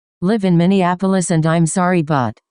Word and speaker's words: Minneapolis: I just asked if you did live in Minneapolis and I'm sorry, but it's pronounced Minneapolis, not Min and Appalas.